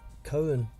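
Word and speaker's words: Koen: 10-round fight against huh k-o-e-n what do you how do you say that cohen cohen yeah it must be uh cohen mizzou i've seen joe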